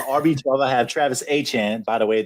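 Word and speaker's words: Etienne: 12 I have Travis a Chan by the way that is the Louisiana pronunciation is a Chan um rb11 from madre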